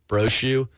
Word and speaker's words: Brochu: But it's phonetically Bravo, Romeo, Oscar, Charlie, Hotel, Umbrella. So Bravo, Romeo, Oscar, Charlie, Hotel, Umbrella, Brochu, Brochu Law.